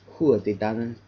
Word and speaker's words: Tuatha Dé Danann: In Gaelic, you would probably pronounce this as Tuatha Dé Danann.